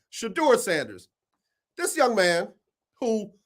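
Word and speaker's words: Shedeur: should do her down it don't say the name wrong shador I said it wrong I said it wrong shador Sanders this young man who one commentator said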